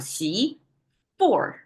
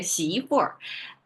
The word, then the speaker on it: 媳妇: Okay, daughter-in-law, we have 媳妇. Okay, 媳妇. With this added at the end, you can tell that's northern China dialect, which will curl the town at the end of the pronunciation.